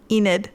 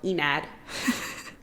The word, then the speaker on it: Enid: keep saying it wrong Enid Enid I don't know why I want to go Enad Enid um at first I